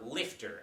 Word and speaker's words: LFTR: liquid fluoride thorium reactors or lifter as its pronounced lifter uses a mixture